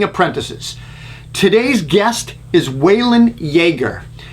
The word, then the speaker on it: Jaeger: today's guest is waylon yeager pronounced like jagermeister makes me think of